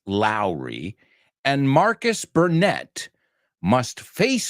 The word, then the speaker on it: Lowry: Miami detectives Mike Lowry, not Leary, Mike Lowry, and Marcus Burnett must